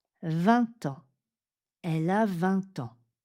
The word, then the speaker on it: vingt: On fait donc une liaison en t également 20h. On se voit à 20h. On se voit à 20h. 20h. Quand le mot qui suit commence par une consonne, on prononce juste 20.